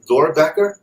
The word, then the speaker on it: Doerrbecker: All welcome, definitely, Ken, and I'm going to mess it up, but Doerrbecker?